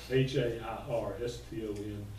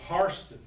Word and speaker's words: Hairston: The white people who are named H-A-I-R-S-T-O-N are not Hairston, they're Harston. They pronounce it differently.